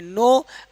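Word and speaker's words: know: एन एन के पहले एन के पहले अगर आपका के हो क्या होगा के मान लो ये एन है और एन से पहले के हो तो हमेशा के क्या क्या रहता है आपका के साइलेंट रहता है एन से पहले के हमेशा क्या रहता है साइलेंट तो इसको पढ़ेंगे नो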